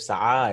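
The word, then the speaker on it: سعى: Because this is alif maqsuda, it's actually a ya, but it's pronounced as an alif. Sa'a, it is not sa'i, right?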